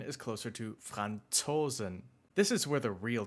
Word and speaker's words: Franzosen: In standard German, it sounds more like TS, like the end of the word cats or hats. So, the native pronunciation is closer to "Franzosen".